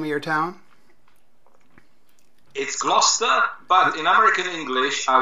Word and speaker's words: Gloucester: do you say the name of your town gloucester but in american english i would say gloucester that's about how i say it yes in